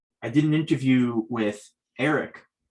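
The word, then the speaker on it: Aereck: did an interview with eric uh from pronouncing that properly it's a-e-r-e-c-k and he was kind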